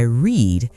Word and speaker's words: read: Today I read yesterday I read like the color red.